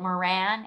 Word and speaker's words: Moran: made um and then um victoria is it moran am i saying it right yeah so from